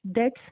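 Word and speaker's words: debts: तो ये जो सेटलिंग डेट्स, डेट्स में बी इज साइलेंट, ओके।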